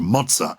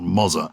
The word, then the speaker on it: mozzarella: I mentioned mozzarella, yes, which I think is correctly pronounced mozza, because it's two Zs, not mozza.